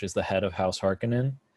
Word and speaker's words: Harkonnen: How do you pronounce that? That's correct. Okay, Harkonnen, and then House Atreides.